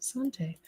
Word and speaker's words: Santé: See, I did it right. Pronounced Santé. French for wish you good health.